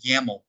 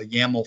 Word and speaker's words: YAML: we've seen these before most people pronounce that as yaml a yaml file and in um